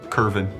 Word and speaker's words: Kerwin: I'm pretty sure you pronounced that like a V. Curvin.